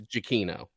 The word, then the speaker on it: Giacchino: How do you pronounce that Michael composer's? Giacchino, Thank you.